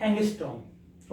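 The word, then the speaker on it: ångström: ANG इसकी definition क्या, sorry spelling क्या होती है, ANGSTROM, ठीक है, इसकी स्पेलिंग होती है एंगस्ट्रॉम की, इसको हम क्या पढ़ते हैं, एंगस्ट्रॉम।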